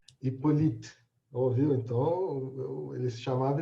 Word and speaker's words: Hippolyte: Ou então, você pronuncia direito esse Hipólito dele aqui? É Hippolyte. Hippolyte.